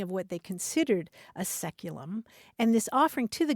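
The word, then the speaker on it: saeculum: c u luu m which in English is pronounced seculum it's traditionally understood to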